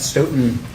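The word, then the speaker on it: Stoughton: through this, could you state your name and spell it for the record? My name is Stoton.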